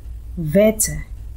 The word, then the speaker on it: Wetter: Wetter.